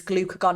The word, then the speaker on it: glucagon: It would stop releasing insulin, and it would release glucagon instead. Now, the way I remember this is glucagon, if you say it like that, it sounds like glucose has gone, right?